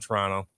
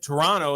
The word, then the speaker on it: Toronto: And all of them said Toronto and they go, "Yeah, my first few months here I got made fun of because I kept pronouncing the second T."